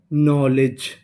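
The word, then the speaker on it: knowledge: यहाँ पे जो हमारा के है वो साइलेंट रहेगा। तो इतनी मीनिंग नौ, LE ले, DGE जा। नॉलेज, नॉलेज।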